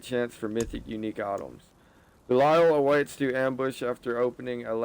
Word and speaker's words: Belial: I knew I pronounced it right, Belial.